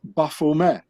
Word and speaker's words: Baphomet: this thing called the baphomet which has to be pronounced buffume because the knights templars they spoke french and not english so the t at the end of baphomet it's not being pronounced in french so you say buffume and ba in the